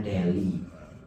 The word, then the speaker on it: Delhi: Delhi bacanya Deli ibu kota bukan ibu kota, kota besar di India.